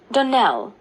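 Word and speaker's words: Donnell: would set it right Donell Accent on the last syllable and Sinclair on no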